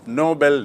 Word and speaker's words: Nobel: तो आपको स्पष्ट याद रखना चाहिए कि नोबल मतलब नेक, नोबल मतलब उच्च श्रेणी का, और नोबेल एक व्यक्ति का नाम जिसके नाम से पुरस्कार है, यहाँ बात हो रही है नोबल की।